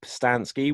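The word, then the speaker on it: Pustansky: absolute age yeah so my name is passed on ski which is spelt P USTA n s KY and you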